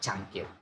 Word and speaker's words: cangkir: English people, English native speakers do not, I mean they seldom say C as in bahasa Indonesia, but the similar sound if we compare to English is ch. Yeah, most of my friends who come from other countries, they say they pronounce ch into ch. Yeah, they change the ch sound into ch. Yeah, cangkir. But in bahasa Indonesia, cangkir.